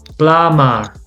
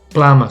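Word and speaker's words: plumber: doubt lame for example this one plummer so plummer so if you notice the b is silent glamour okay also very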